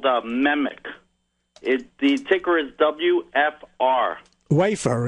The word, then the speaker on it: MEMC: MEMIC. MEMC. Yeah, Memic. Okay, I always wondered how you pronounced it.